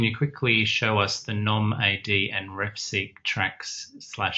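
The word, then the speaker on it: gnomAD: NOMAD, okay. Sorry. Pronunciation. Yeah, we like to pronounce it that way because that's actually a word, right? A NOMAD. It's not spelled that way.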